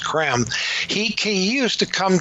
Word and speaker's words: Creme: London spelled CR eme it looks like cream but it's pronounced cram he can use to